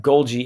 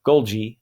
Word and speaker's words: Golgi: All right, Golgi apparatus. This is just fun to say since it's got a hard and a soft G in the same word. Golgi apparatus.